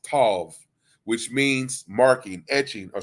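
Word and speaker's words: תו: The Hebrew form of the word tau is pronounced tav, which means marking, etching, or scrawl.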